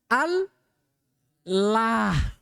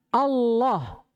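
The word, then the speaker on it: الله: fathah ketemu dengan Allah Bagaimana cara baca Allahnya tebal atau tipis tebalah gak boleh lagi ada orang bacaah sama orang kalau takbir dalam salat Allahu akbar gak ada Allah yang ada itu Allah paham ini nah ini yang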